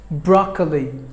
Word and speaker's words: broccoli: two broccoli broccoli broccoli three syllables are there in this word but the first syllable gets the stress broccoli we're number three Cosette